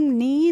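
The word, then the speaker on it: knee: Friends मैंने आपको पहले भी बताया है, जब के बाद एन आता है तो हम उसमें के का प्रोनाउंसिएशन नहीं करते हैं, तो हम एन से करते हैं।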